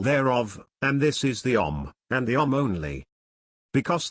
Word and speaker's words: Om: and this is the OM and the OM only because these three letters a m pronounced in combination as om May well be the